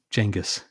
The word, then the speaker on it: Genghis: So that's the actual pronunciation is like Genghis.